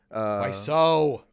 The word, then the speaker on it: Wiseau: Wiseau. Wiseau. It's Tommy Wiseau. It's Wiseau. But it's spelled Wiseau.